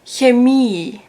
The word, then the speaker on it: Chemie: But if it's the opposite around, so if there's an I first and then an E, then you pronounce it like a long E.